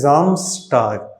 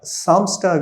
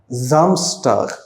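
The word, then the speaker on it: Samstag: Saturday வந்து ஜாம்ஸ்டாக் சாம்ஸ்டாக் இல்ல ஜாம்ஸ்டாக்.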